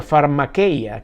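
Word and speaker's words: φαρμακεία: como siempre lo decimos que se pronuncia pharma que ya que significa hechicería brujería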